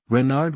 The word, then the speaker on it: Renard: official name is King Renard IV Renard with the accent on the ren dot what's Ren asked